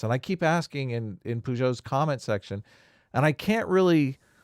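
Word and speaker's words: Pageau: of the conversation, but the correct pronunciation is Peugeot. Oh, Peugeot. I'm a native French speaker to it, but it's Peugeot.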